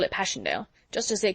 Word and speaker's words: Passchendaele: ones oh mr marchant it was so strange to hear you call it passion dale why if i may ask because that's the way i pronounce it to myself but i looked it up and it's more like pascandala bless you all the